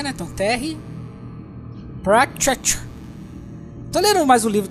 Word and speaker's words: Pratchett: Bom, essa semana eu tô lendo como pronuncia, Netão? Pratchett. Tô lendo mais um livro do Discworld, o Terry Pirâmides. Pratchett.